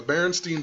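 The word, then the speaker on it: Berenstain: a kid that um it was pronounced stain but it looked like Steen or whatever um even the movie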